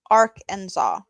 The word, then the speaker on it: Arkansas: blah blah blah plification Arc and saw but it's not spelled like that there is no there's no saw don't try to understand Arkansas don't try to understand anything American oh I do enjoy